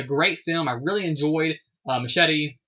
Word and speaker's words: Machete: So first up we have a film directed by the man Robert Rodriguez, and that is called Machete. Or Machete, as they pronounce in the movie.